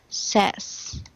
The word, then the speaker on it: says: say okay so say and this one it's pronounced as sess okay it's not safe Gaines just adding s